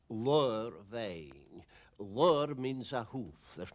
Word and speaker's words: Ladhar Bheinn: the pronunciation of that is lore vain word means a hoof